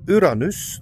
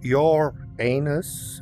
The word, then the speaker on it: Uranus: in America uh back the planet is pronounced Uranus not your anus I know that joke